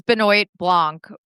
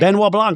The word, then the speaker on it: Benoit Blanc: Sutton Strack, but she's Benoit Blanc, or however you say his name. Benoit Blanc, yeah.